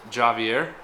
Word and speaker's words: Javier: us and so is Javier that's how you pronounce it in Mexican how do I spell